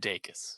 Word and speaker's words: Dacus: is actually is it i looked up an interview she did she said dakis so i think it's that's right uh i'm going to trust lucy daikis on pronouncing her name correctly um one would think